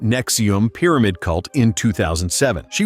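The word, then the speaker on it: NXIVM: got involved with the nxc VM pronounced Nexium pyramid cult in 2007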